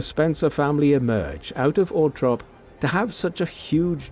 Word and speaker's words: Althorp: The pronunciation, Althorp, is the preferred one of the Spencer family, although Althorp is an alternative, more common pronunciation.